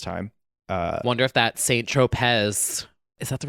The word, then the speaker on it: Tropez: Wonder if that Saint Tropez, is that the right Saint word? Tropez. Oh. You put the emphasis on the wrong syllable.